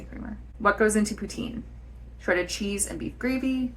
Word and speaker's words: poutine: but in French basically incidentally how do you pronounce poutin poutin p p ptin or Putin it's definitely